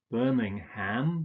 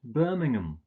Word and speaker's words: Birmingham: you like ham but you don't don't pronounce this ham you usually just pronounce it um so it's not Birmingham but Birmingham its Chatham Dagenham Nottingham